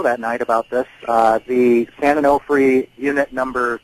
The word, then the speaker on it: San Onofre: Am I pronouncing that right? Yeah, San Onofre.